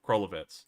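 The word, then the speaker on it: Krolevets: near the city of uh krelevets i believe that's the name uh krolovets that's the correct pronunciation this guy has a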